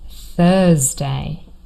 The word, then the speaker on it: Thursday: the first syllable and the day of the week Thursday. I know my students often get this confused with Tuesday. That is a different sound. This is a t sound to but here we have th Thursday the day after Wednesday.